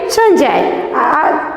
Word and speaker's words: संजय: तो हम लोगों का यहाँ पर संजय था, इसको हम लोग क्या उच्चारण करेंगे, संजय, मतलब न्या यहाँ पर आया। तो इस बिंदी का मतलब यहाँ पर क्या है, न्या है।